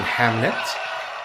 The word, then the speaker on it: Hamnet: Which every time they say Hamnet, I think they're mistakenly saying Hamlet. Saying him. Yeah, and I'm like, hey say it right. Say it right. But turns out, folks, exactly, Pancake. It is right.